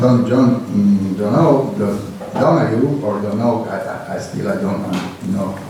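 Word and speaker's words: Donoghue: John Donogh and collaborators, and not only John Donahue or Donogh, I don't know what is the correct pronunciation. Donaghy.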